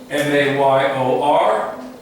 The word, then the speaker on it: mayor: M-A-Y-O-R, pronounced as if mayor, M-A-R-E.